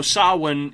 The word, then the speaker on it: Samhain: too too similarly so sawin is uh in gaelic of course which has all kinds of weird pronunciations that even uh i as an irish person do not uh do not understand all the pronunciations sometimes feel like i need to research them but samhain is actually spelled s-a-m-h-a-i-n which is where sam sam